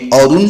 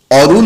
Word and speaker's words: অরুণ: বিদ্যাসাগরের রচনা মান্যচলিত উচ্চারণে অরুণ শব্দের অদ ধ্বনিটির রূপ লেখো অকে আমরা ও হিসেবে উচ্চারণ করি অরুণ না বলে আমরা বলি অরুণ এই ছিল 2000 22